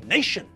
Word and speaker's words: nation: G also don't forget it's the Hungarian nation but it's a national football team and we have international conferences I'll see you all